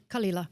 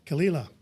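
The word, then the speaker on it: Caol Ila: Kala. Kala.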